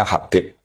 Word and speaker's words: Habib: Itu di harokatnya kitab itu ada yang nulis Hubab. Tapi yang benar, oh enggak, yang benar itu bacanya Habib.